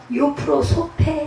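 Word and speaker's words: εὐπροσωπῆσαι: 따라 사는 기회주의자들이 예 모양을 내려라 말은 헬라어로 유프로 소페 사이라고 말합니다 좋은 모양을 낸다는 뜻이에요 유프로 소시 예 유프로 소 사이 % 소 사이 제가이 발음이이 단어가 좀 낯설어서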